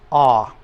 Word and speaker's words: a: explain this for you but the a in Spanish is always ah let's all say that